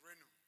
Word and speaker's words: Renu: was there, and we used to call it Renu.